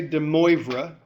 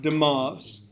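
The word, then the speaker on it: de Moivre: Okay, so don't say Demora. Okay, it's pronounced Demov. Okay, act like you're from France or something.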